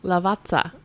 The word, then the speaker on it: Lavazza: i i i i'm not good at italian lavazza is that how it is that's perfect i'm going to say it like that it's perfect you hear that claire can you say it lavazza yeah excellent that's good yeah i gotta